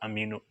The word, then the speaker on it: amino: तो ये स्टूडेंट्स बहुत इंपॉर्टेंट हमारे जिस्म में एमाइनो एसिड्स है और इसको आप अमीनो एसिड भी प्रोनाउंस कर सकते हैं।